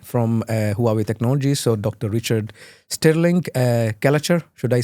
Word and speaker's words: Stirling-Gallacher: Richard Stirling-Gallacher, should I say it right?